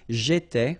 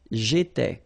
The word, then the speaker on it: étais: J'étais, okay? Remember, here we've got accent aigu, so it goes like e, all right? J'étais.